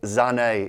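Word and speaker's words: Sané: Also, it's Sahne in German, by the way. That's how they say it in Germany, where he's from.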